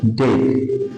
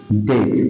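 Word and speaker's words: debt: উচ্চারণ হবে না, এবং বি এবং টি পাশাপাশি থাকলে এক্ষেত্রেও বি উচ্চারণ হবে না। আমরা একটু উদাহরণ দেখি। দেখো লেখা আছে ডেট ডেট, ডিই বিটি।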